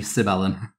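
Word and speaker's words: Sibelan: is pronounced yeah um google tells me sibelen if you haven't noticed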